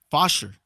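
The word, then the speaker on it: Faucher: As we go to the bottom of the ninth, Calvin Fosher. 11th game, 1-1 record, 3.86 ERA for the Marlins. Right-hander Calvin Fosher. How would you pronounce that? F-A-U-C-H-E-R. Fosher? Fosher.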